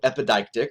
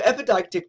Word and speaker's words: epideictic: So epideictic, if you're trying to get that pronunciation, right? So epi makes not like needles, right? Epi, and it's deictic, right? So epideictic is the ceremonial rhetoric.